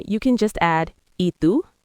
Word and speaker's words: ¿Y tú?: After you say your name, you can just add ¿Y tú? ¿Y tú? Close. The Y is pronounced like the letter E in English. ¿Y tú?